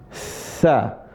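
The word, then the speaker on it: ث: Kalau ini cara bacanya sa tsa ujung lisan ketemu ujung gigi seri atas tsa.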